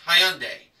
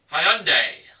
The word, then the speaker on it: Hyundai: I've been pronouncing the name as Hyundai, but I have a friend who used to own a Tiburon, and he told me how the name is pronounced. It's Hyundai.